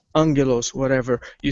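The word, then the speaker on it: Άγγελος: one stays so how do you spell um Angelo's Angelo's what ever you spell alpha gamma gamma ETA lambda omicron Sigma and that's a spell on yellows that's pronounced Angelo's and in there it's just a gamma gamma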